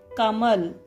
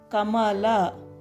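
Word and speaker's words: ಕಮಲ: The difference is in Hindi we will stop it sharply like Kamal. We will stop it shortly. In Kannada we won't do that. We will tell full word like full letter we will pronounce Kamala. Will not cut it sharp. Kamala. In Hindi it will be Kamal.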